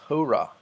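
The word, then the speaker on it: ὥρᾳ: at this point the this does not affect pronunciation so this would not be ho Rai but hora this is the Greek word for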